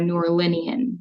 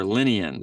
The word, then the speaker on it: New Orleanian: And then if you're from New Orleans, you're a New Orleanian. Or Linian. Okay.